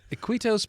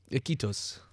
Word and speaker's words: Iquitos: So the city that you're going to, and I'm gonna mispronounce it. Cleveland. Cleveland. Cleveland. Iquitos, Peru.